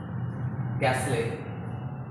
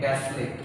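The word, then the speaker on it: castle: जैसे for example देखिए लिखा है कैसले। कैसले मीन्स महल या किले को बोलते हैं कैसले, टी साइलेंट, कैसले।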